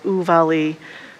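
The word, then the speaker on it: Uvalde: course a shooting in uval is i want to say it right oo valley of all day yes thank you i've been practicing it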